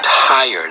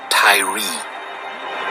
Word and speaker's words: Tyre: King Hiram of attire tire that is e-y-r-e pronounced by Americans Tyree as in Tyree Nichols who was beaten